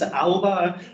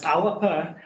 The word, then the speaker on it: Alba: you may have company Al something and they pronounce ala whereas in G ala and you get people to say ala because that's the way it looks in English